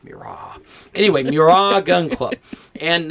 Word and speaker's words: Mirage: Again, that's pronounced Mirage.